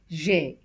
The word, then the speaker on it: j'ai: Instead of pronouncing as je, a, we remove this E, put an apostrophe because there are two vowels together and it becomes j'ai, which means I have.